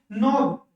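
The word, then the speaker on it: knob: साइल भी होता है के कभी-कभी साइलेंट भी होता है जैसे कि नोब अब इसमें के के के के आएगा ही नहीं के की साउंड हम बोलेंगे ही नहीं क्या बोलेंगे इसको नोब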